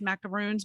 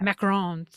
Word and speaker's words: macarons: are you showing missy a picture of leanne's macaroons macarons how do you say that macarons um and so she recently had a pop-up